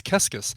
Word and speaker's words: Keskis: She loved Psycho Killer by the Talking Heads because the phrase qu'est-ce que c'est is pronounced similar to her last name, which was Keskis.